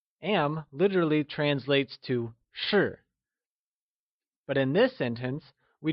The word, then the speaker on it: 是: 是 is pronounced using a falling tone, or the fourth tone.